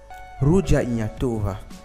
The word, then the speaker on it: Ruja Ignatova: Ruja Ignatova, comme on le prononcerait en bulgare, est née le 30 mai 1980 en Russie.